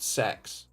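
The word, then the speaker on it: CeX: ex's Channel they say it should be called sex or like said pronounced like a c and then an e and then an X which we have all pronounced c x as as British teens um that yeah they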